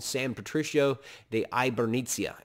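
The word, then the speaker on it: Hibernia: called san patricio de ibernizia h is silent in spanish so it's hyper it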